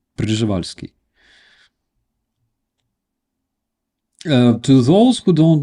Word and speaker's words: Przewalski: It's Przewalski. It's almost like Przevalsky, but without e in the beginning. Przewalski. Uh to those who don't know, there is a Przewalski horse uh that horse